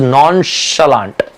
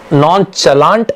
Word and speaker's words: nonchalant: So to all the boys in the group, I have a word and that is nonchalant. It is not nonchalant, it is nonchalant.